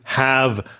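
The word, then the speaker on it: halve: The l is silent, so you would just say to have something.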